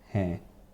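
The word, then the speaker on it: ہیں: Kaise mizaj hain? Kaise mizaj ke? Hain. Yes, so it's like H-A-I-N, but like the N at the end is silent.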